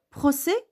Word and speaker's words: procès: Procès, vous n'avez pas écouté S.